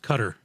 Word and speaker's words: Qatar: it's pronounced Qatar. Qatar is 2022, I think it's pronounced Qatar. All right, Qatar. Qatar is Qatar. It just sounds better to go Qatar. Is it really Qatar?